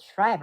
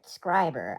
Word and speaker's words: Schreiber: will be driving to a town called Schreiber, or as the Canadians call it, Scriber. I literally just learned that today. It's Scriber. It's gonna take me some time to be calling it Scriber because I've been calling it Schreiber for a while.